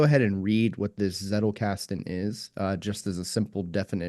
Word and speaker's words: Zettelkasten: How do you spell that? Z E T T E L K A S T E N.